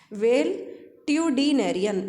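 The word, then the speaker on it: valetudinarian: Well ट्यूडीनेरियन ऐसे याद करना पड़ेगा आपको। एक साथ तो नहीं होगा ना ही स्पेलिंग लिखी जाएगी। तो वेल ट्यू डी नेरियन एन ए आर आई एन।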